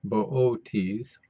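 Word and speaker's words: Boötes: sky where boot is bootes is pronounced in three syllables so it's bootes here's the asterism we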